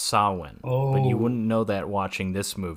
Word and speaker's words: Samhain: let my Irish ass correct you here it's pronounced saline and you wouldn't know that that watching this movie because Dr Loomis calls it Sam hey calls it Sam hey straight up yeah which you know he's he's